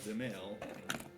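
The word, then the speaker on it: Dzemael: l d z yeah the d is mostly silent it's like xml gotcha i'm sorry what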